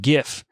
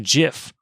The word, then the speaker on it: GIF: for saying the word gif because it's pronounced jiff according to him and he went on